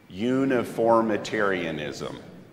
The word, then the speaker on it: uniformitarianism: on the slide here uniformitarianism or everybody say it with me uniformitarianism it's nine syllables okay uniformitarianism is the